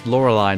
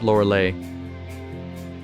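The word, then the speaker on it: Lorelei: in the laser eyes I think it's laurelai not Luray it Rhymes better by wrong organ mouth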